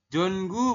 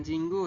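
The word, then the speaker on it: 전구: titik-titik qyo Oh sor ya jongu bukan cinggu saya salah baca Ya jongu itu artinya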